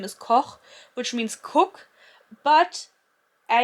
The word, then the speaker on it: Koch: to pronounce Koch properly, but I just assume that everybody who reads this book will say Cock.